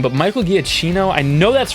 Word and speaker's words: Giacchino: I'm gonna butcher his name, but Michael Giacchino. I know that's wrong. Let me look up the actual pronunciation. Okay. I think it's Michael Giacchino.